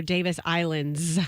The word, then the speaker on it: Davis Islands: You say you save your S's for Davis Islands. Well, because that's correct. That's how it's pronounced. Because That's the name of the island.